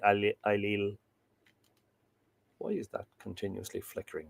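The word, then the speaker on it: Ailell: There is wonder on me, said Ailil. It's spelt, I think I said this last week or the week before, it's spelt Ailil, A-I-L-E-L-L, but I'm saying Ailil.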